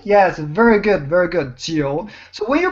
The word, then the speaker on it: 九: 九 Jiu. Yes, very good, very good. Jiu. So when you pronounce this G sound, make the same tongue position in your mouth as you pronounce the Qi sound.